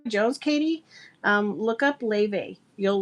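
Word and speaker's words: Laufey: So yeah, if you like Jones Katie um look up Ley. you'll like Ella and it's it's spelled L A U F E Y.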